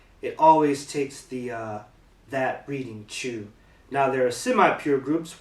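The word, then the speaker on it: 中: It means inside. It's the onyomi is chu. So whenever you see this kanji, or this radical in a kanji, usually its onyomi will be chu.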